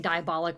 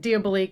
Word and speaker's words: Diabolik: and he pulls out I kept saying Diabolik, which is like obviously the incorrect way to say it, but Diabolik and Eva are driving and he puts out that like mirror wall.